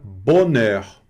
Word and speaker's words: bonheur: Bonheur não é bonheur, é bonheur. Ou seja, esse H aqui ele nem considera, você já vai pronunciar o heure.